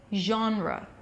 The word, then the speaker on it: genre: sound then the AH as in father and then an end sound Jean the second syllable is an R sound or an - wha roh-roh so basically it's just like you're making an R sound and you forget to stop speaking right right okay so it's Jean ruff genre genre what's your favorite